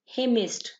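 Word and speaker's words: hymnist: हिमिस्ट ये इसमें एन जो है ना, ये हमने नहीं बोलना, ठीक है, एन साइलेंट होगा।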